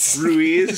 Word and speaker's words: Ruiz: Ruiz. I'm pretty sure that's how it's said.